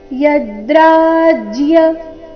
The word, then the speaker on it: ಯದ್ರಾಜ್ಯ: ಕರ್ತೋ ವ್ಯವಸಿತಾವಯಂ ಯದ್ರಾಜ್ಯ ಸುಖಲೋಭೇನ ಯದ್ರಾಜ್ಯ ಯದ್ರಾಜ್ಯ ಯದ್ರಾಜ್ಯ ಇಲ್ಲ ಇಲ್ಲಿ ಜ ಅಧಿಕ ಯ ಸಂಯುಕ್ತಕ್ಷರ ಯದ್ರಾಜ್ಯ ಸುಖ ಸುಖ ಸುಖ ಬೇಡ